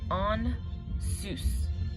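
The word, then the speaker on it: Ansuz: We pronounce this as On Zeus, or On Zeus.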